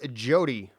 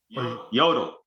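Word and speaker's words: Jodl: A man by the name of General Alfred Jody or Yodi. Yodel. Yodel. Yodel. The J is silent. Yeah, that's an L, not an I.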